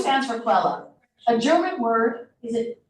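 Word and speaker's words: Quelle: e l l e qu Q stands for quella a German word is it that means source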